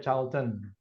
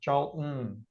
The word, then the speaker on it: Charlton: Betul ya, jawabannya adalah Charlton, tapi nggak dibaca Charlton. Karena memang menggunakan British style, jadi bacanya pakai hentakan atau tahanan seperti itu ya. Charlton, Mountain, Kitten, kayak gitu harus familiar dengan style seperti itu.